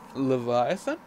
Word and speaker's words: Leviathan: the legendary sea serpent love you the Leviathan Leviathan that's the first time I've actually said it